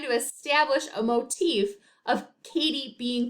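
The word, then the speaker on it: Cady: ever seen mean girls the main character is named katie herron but as you can see on the screen her name is spelled c-a-d-y so often times throughout the film people call her caddy and this is a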